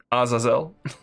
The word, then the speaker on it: Azazel: Anyway, I'm using the Hebrew pronunciation because it is a Hebrew word, Azazel. Even though I know that the correct pronunciation is all over the place.